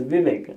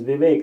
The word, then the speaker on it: Vivek: You don't pronounce your name as Vivek. You pronounce your name as Vivek, like in cake, right?